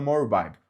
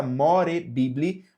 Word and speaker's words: More Bible: more Bible ou aluna More Bible, OK? Exatamente como está escrito aqui no nosso canal, More Bible. Se digita more bibly, mas se pronuncia more Bible, ok?